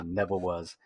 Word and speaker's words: Nevawuz: It was called the Land of Nevawuz, and it was spelled Nevawuz, like phonetically, Yeah. Nevawuz.